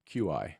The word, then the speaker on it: qi: like to spell it QI. I think phonetically, in English, CHI is kind of a nice phonetic spelling because I usually pronounce it Qi.